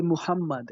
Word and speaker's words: Muhammad: you say how do you say i say muhammad is that how you say muhammad yes okay yeah so listen this is this is al-bukhari which one is a trustworthy for the muhammadan no no no my friend my friends so